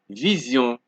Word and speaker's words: vision: So however, Sion is pronounced like zion when the S in sion appears after a vowel.